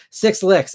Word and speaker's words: SXLX: So SXL says, by the way, just to make things a bit easier, you can pronounce my username as Six Licks.